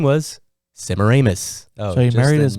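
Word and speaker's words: Semiramis: by the name of simaramus oh it's not simmeram where do we hear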